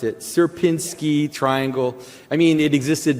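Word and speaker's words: Sierpiński: Um uh so this is something called the Suberski uh s how did he pronounce it? Serpinski triangle.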